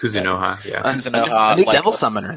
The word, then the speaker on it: Kuzunoha: Well, I can't even pronounce it. Kuzunoha, yeah.